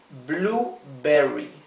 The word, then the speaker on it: blueberry: en inglés Cuando tenemos esta combinación de letras la u y la e esto generalmente se pronuncia u como la u nuestra blueberry raspberry es frambuesa nuevamente